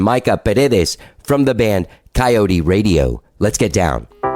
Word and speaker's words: Kyote: get some moments and it's pronounced coyote radio coyote radio and so what happened